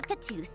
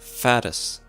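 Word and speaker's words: Fatui: Her father was a fatuse, and her mother was a very famous ballerina. See, it's pronounced fattis.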